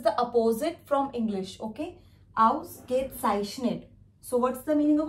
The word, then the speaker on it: Ausgezeichnet: Ausgezeichnet. I know this is थोड़ा सा लंबा वर्ड है, थोड़ा सा लॉन्ग है प्रोनाउंसिएशन में, बट इफ you will try यू can also speak. Ausgezeichnet.